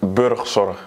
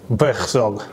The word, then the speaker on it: Burgzorg: Burgzorg. Yeah. Yes, like this. It's not a normal pronunciation yes, in English. Yes, it's a little bit, I cannot explain, but we have a different G in the Netherlands.